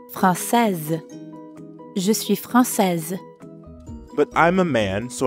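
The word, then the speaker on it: française: instead i'd say frances francaise notice the change in the pronunciation franc says but i'm a man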